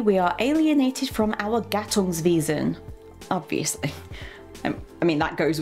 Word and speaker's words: Gattungswesen: So it's Gattungswesen, not Wesen, not Wesen, Wesen.